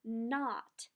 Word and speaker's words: knot: today is mmm and not k and now remember the K is silent that means only the